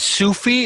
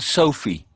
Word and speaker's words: Sophie: it's Sufi or Sophie? We call it Sophie. Maybe it is Sufi for you.